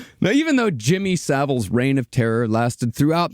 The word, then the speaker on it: Savile: was so small that we didn't even know how to properly pronounce his name in America when his crimes came to light, we called him Jimmy Seville for years. Oh yeah. Jimmy Savile was an institution unto